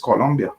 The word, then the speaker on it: Colombia: uh pronounces or Colombia it's not Columbia it's Colombia but it's not your